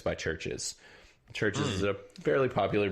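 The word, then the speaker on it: CHVRCHES: share and it's by churches church is a fairly popular band you very well have heard this song but it's really good and churches is spelled with a v this is a c-h-a-b-r-c-h-e-s but uh yeah the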